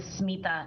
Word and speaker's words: Smita: I I go with the smita as the pronunciation of my first name instead of smitha.